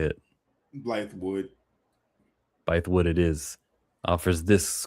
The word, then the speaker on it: Bythewood: Bythewood.